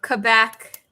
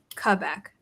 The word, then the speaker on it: Quebec: That's what you were saying about the W. When I'm around other French people, I say it properly. And then when I haven't been around them in a while, like I add the W as if I were saying, you know, closer to Q, like in English or in British English.